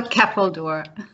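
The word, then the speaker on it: Ceffyl Dŵr: Can you pronounce that word for me, please? It's a Keppeldoor.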